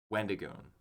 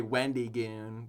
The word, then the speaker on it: Wendigoon: I'm sorry, I barely overemphasized the E in between Wend and Goon. Wendigoon. Wendigoon. Like, I didn't say Wendy Goon, but anyways.